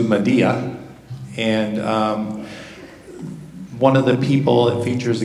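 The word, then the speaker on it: Medellín: It's spelled like Road to Medillin. We joke around and call it Road to Medillin. But it's actually pronounced Road to Medea.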